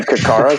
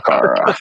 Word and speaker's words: Ccara: And for some reason in America, we spell the breed Ccara. So people are like, "Do you have any Cacaras?" I'm like, "It's called Cara."